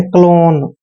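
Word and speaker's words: clone: हैं ओ एन ई को ऑन पढ़ना है क्लोन ठीक है ना क्लोन क्लोन का मतलब होता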